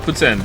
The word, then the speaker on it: poutine: is if it's not cheese curds it's not put in it's just cheese fries with gravy which can